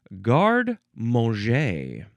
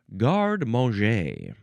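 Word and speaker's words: garde-manger: is next we have guard mo. Guard mo. First word is g a r d e. Then there's a hyphen. Then it's the word manger. M- an g- er, but it's pronounced guard mo.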